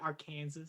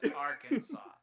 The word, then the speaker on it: Arkansas: the weird laws, but Arkansas must be pronounced correctly. So if you're visiting, you have to pronounce it correctly. So for that moment, if you guys missed it, Adrian said Arkansas or something like that.